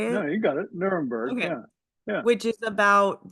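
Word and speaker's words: Nuremberg: Nermberg.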